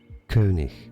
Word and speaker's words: König: König. Wait, Google is doing it wrong? Hold on. Yeah, is it really? For today, name pronunciation in German, it is pronounced as König. See?